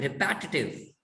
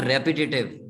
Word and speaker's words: repetitive: वो पता क्या बोलते हैं, रिपैटिटिव. इट्स नॉट रेपिटेटिव, we pronounce it wrong, it's रिपैटिटिव.